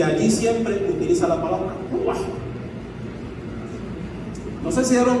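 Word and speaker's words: רוּחַ: traducción de la palabra ruach. Hay otra forma de transliterarlo, pero a mí no me interesa aquí la transliteración, lo que me interesa es la pronunciación. Ruach, que usted aprenda cómo se dice.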